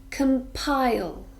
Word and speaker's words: compile: 24 or 36 compile this is a verb and it actually has three syllables come PI yo we stress the second syllable compile compile it means to produce